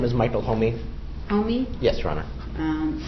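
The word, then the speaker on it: Homme: My name is Michael Homey. Homey? Yes, Your Honor. Spell it.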